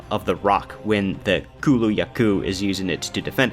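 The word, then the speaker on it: Kulu-Ya-Ku: first one being the kulaku or uh Kulu laku there we go that's how you Kulu yaku that's how you say it um a very interesting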